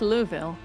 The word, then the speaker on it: Louisville: I I think it's Louville. I don't always pronounce it that way, though.